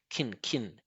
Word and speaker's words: can: So we're going to make a reduction and we're just going to pronounce it really short and low, like this: kin, right?